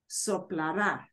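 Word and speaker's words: soplará: it oh supplara but notice how it's pronounced soplara something like that I will blow out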